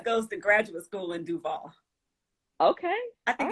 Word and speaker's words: Duval: Duval, that's how you say it.